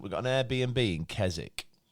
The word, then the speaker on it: Keswick: got an Airbnb in kzk and um not Keswick no no I think kzk silent W okay um and we